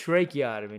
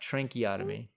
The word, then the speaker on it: tracheotomy: it Tran otomy it's tracheotomy how are we saying it any different you're saying it with an N I'm saying it with no n okay tracheotomy not tran otomy oh my gosh Tran